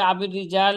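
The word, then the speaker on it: أبي الرجال: lock ছিল কাবির আবির রিজাল বিকাস রতাফিলজিম আবির রিজাল এমনিভাবে আবির রিজাল এখানে র এর নিচে কসরা এবং জিম হালকা উচ্চারণে এটি মোহাম্মদ ইবনে আব্দুর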